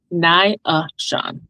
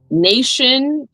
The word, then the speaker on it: Naashon: a dialect, and so the way that my father says my name is with three syllables. He says Naishaun. Mhm. And that is how I honestly prefer my name to be said.